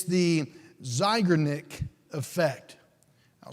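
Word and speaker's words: Zeigarnik: there's even a term for this it's the zygonic effect I'll spell it if you want to write it down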